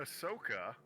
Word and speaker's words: Ahsoka: absolutely cyberpunk i thought arsaka is also a character in star wars though uh uh ahsoka oh ahsoka i was close okay i've only read it i haven't heard it pronounced yeah no arasaka is one